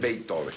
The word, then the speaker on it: Beethoven: Y también, se pronuncia Beethoven. Beethoven, exactamente.